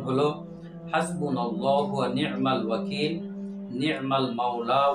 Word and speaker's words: হাসবুনাল্লাহু: তো দেখেন, দোয়াটার সঠিক উচ্চারণ হলো হাসবুনাল্লাহু ওয়া নি'মাল ওয়াকিল, নি'মাল মাওলা ওয়া নি'মান নাসির।